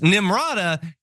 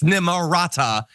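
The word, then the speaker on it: Nimrata: what her name is because nimada isn't even her actual name it's nimara it is spelled very differently than that um but to spell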